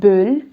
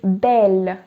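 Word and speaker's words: belle: bell bell means beautiful so it's not bill it's bell because there's a double consonant after the letter e so now we move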